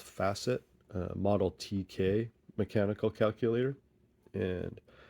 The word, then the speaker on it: Facit: this is my physique or maybe it's pronounced facet model TK mechanical calculator